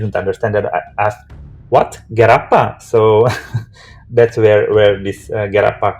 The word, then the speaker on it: g3rappa: Okay, so uh, The correct pronunciation should would be Gerappa, and it doesn't have any meaning.